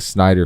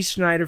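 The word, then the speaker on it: Snyder: And I I know I said his name wrong. Don't care. Um, I said Schneider. You did say I don't care. It's all right. Um, but definitely Snider fans.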